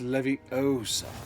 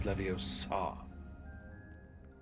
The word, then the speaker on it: Leviosa: And make sure you pronounce it correctly. It's Leviosa, not Leviosa. Professor Garlick, a moment of your time?